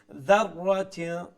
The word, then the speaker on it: ذرة: At the end, right then, dharrat, make sure you pronounce the dhal, just like the one at the beginning, idha, with a softer tone, okay? Dharratin, dharratin, like that, okay?